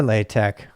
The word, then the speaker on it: LaTeX: So it is LaTeX. Or LaTeX. What? We're both right? Okay. It's not latex though, even though that's how it's spelled.